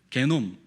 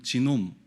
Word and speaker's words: 게놈: 게놈 프로젝트, 게놈 또는 지놈 이렇게 발음을 하는데요, 뭐 같은 놈이니까.